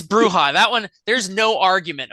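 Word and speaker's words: Brujah: uh people trying to figure out how to pronounce some of the clan names like it's bruya and they're like that's not true yeah it's bruja that one there's no argument about that it's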